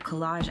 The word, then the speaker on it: collage: While you're making your collage, see if you can say the word collage out loud. Collage. The word is spelled C-O-L-L-A-G-E. But notice the G sounds like J.